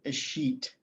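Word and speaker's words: escheat: folks want to include a sheet in their um in their description of interests let me put that in the chat because it is not spelled like it sounds a sheet is when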